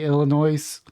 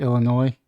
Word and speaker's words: Illinois: think it's Illinois but they uh don't like it when you say Illinois even though that's how it's spelled but it's really Illinois State Police a judge Wednesday